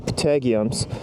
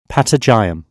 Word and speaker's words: patagium: Sorry guys, I went back home and searched if it was the right pronunciation, and as it turns out, it wasn't. And so the correct pronunciation was Patagium.